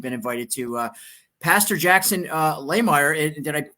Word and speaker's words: Lahmeyer: Pastor Jackson Lahmeyer, did I pronounce it correctly? I hope so. Close. It's a good German last Lahmeyer, name. Right? It's Lahmeyer.